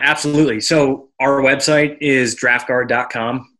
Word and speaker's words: Draught Guard: so our website is draft guard comm we spell it dr a you ght nice huh guard comm